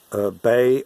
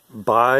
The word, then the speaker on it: Bai: how you know bai the american brain will uh immediately pronounce it as either bae or bi and bias is what we call a uh you know subconscious and it said bye and blow that in